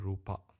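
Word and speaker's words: rūpa: to say nama and rupa. Nama and rupa. In Sinhalese pronunciation, we call nama rupa. In English, international Pali, we call it nama and rupa. Okay. Because the A is not closed, it's open.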